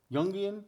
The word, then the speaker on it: Jungian: I'm pronouncing this right it's jungan Yung jungian y like it was a y y yeah what is